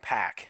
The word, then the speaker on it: Pac: hold on, we forgot to mention that Pac and or Pac did they what did they say how you officially pronounce it? They've been saying Pack.